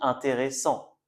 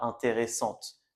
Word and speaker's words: intéressant: Donc il faut bien faire attention à ne pas prononcer le t. D'accord ? On dit intéressant, pas intéressante.